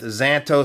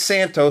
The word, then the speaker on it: Szanto: guess the pronunciation with the Z or Z depending on where you're from is silent I probably would have went with Szanto so I'm glad that they've corrected me the pronunciation though is Santo so this particular model